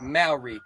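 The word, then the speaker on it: Māori: Maori. So M-A-W-R-E-Y, like Maori. Yeah, right? Like that. That's how you pronounce it. Yeah. Okay. Maori.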